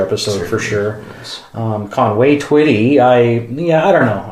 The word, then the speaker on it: Twitty: also funny too because his last name Twitty rhymes with something that's also quite um humor inducing Twitty you know oh